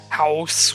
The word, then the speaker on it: Howrse: There's one called House, which is spelled HOWRSE, and that's basically breeding horses, which is weird, but and that one's still online.